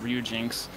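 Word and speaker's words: Ryujinx: uh ryuen X or Ryu Jinx I I always want to just pronounce the X separate but I'm pretty sure it's just ru Jinx uh than playing it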